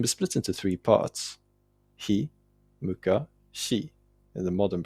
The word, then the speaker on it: ひむかし: like the Ise Monogatari, the word is written himukashi. This is representative of an even earlier pronunciation, though.